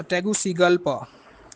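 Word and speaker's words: Tegucigalpa: है इसके कैपिटल का टैगु टैग सीगा पा टैगुसिगलपा टैगुसगलपा करके इस तरह का इसका नाम है जी स्पेलिंग आप इसको लिख लें जीस के कैपिटल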